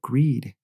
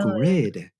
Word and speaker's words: grid: the the power grid she just kept talking about greed green I'm like what does greed have to do with anything here and then a heavy she's trying to say grid oh wow really yeah